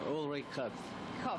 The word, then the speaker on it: Ulrich Kof: Chef Ulrich Kof. Am I saying that correctly, Chef? Yeah. You say it. Yeah, that's Ulrich Kof. He has the delightful Swiss pronunciation.